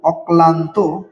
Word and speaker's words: অক্লান্ত: অ তারপরে কয়ে হস কয় লয়ে আকার দন্তান ত ঔকারত অক্লান্ত এর উচ্চারণটা অক্লান্ত তো এখানে আমরা যে বিষয়টা লক্ষ